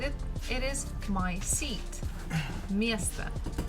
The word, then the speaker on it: место: Again, me, syllable me is stressed, so we must pronounce it as it is. But the last one, again, we have O, it is not stressed, so we say it as A. Место, место. Это мое место.